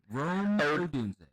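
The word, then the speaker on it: Rome Odunze: So, how do you pronounce it again? Odun. Rome odun.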